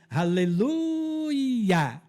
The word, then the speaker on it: Aleluia: os salmos de romag os salmos de aleluia é assim que se pronuncia Aleluia onde Iá é abreviatura do nome yavé Esses Salmos são os